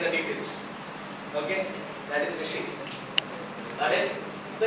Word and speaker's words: phishing: Phishing. It is pronounced as phishing only, okay? But spelling is different.